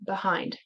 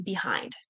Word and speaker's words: behind: It was, why do you hear it being pronounced as behind? But some people pronounce it with the schwa sound, behind. When people say it individually, generally they will say behind.